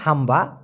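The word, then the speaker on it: hamba: গরুতে ডাকার মত হাম্বা ওটা এভাবে বলবেন না আপনি আপনি জাস্ট সিম্পলি বলবেন হাম্বা হাম্বা এরকম না বলে তো এই হাম্বা মানে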